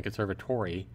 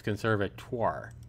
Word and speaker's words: Conservatoire: and serve at or I was saying could serve at or at first and then conservatory its Conservatoire Conservatoire okay and it means